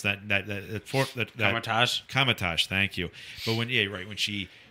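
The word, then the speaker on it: Kamar-Taj: I definitely think not the first half of the attack, Katarage, or I already forgot how to pronounce that. Kamatage, thank you.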